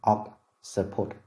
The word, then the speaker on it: occiput: tiết thứ nhất, còn trọng âm của occipital rơi vào âm tiết thứ hai. Từ đầu tiên occiput và từ thứ hai occipital, occipital.